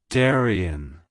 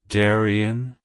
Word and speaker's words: Darian: Oak it's pronounced as Daran Daran Daran to pronounce it correctly emphasize the first syllable dar and then follow with